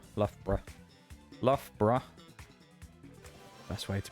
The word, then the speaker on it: Loughborough: Loughborough. Yeah. Loughborough. I mean, people don't pronounce it like borough, do they? They pronounce it like bruh. Loughborough.